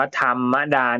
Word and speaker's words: ธรรมดา: แค่ เป็น โอ้โหวัด อ่า ธรรมดา อัน นี้ อ่าน ว่า ธรรมดา นะ เป็น รอ หัน นะ ครับ รอ ธง เติม ให้ หัน อากาศ เข้า ไป แล้ว